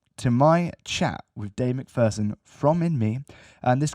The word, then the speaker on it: McPherson: lead singer of the band in me dave mcpherson how are you sir i'm very well and thank you for pronouncing my name correctly that doesn't happen often